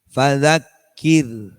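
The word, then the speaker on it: فذكر: Jadi kalau tipis itu bacanya dibaca tarqiq itu fadzakir, fadzakir. Kalau kita, seperti kalau kita melafalkan R-nya dalam English language.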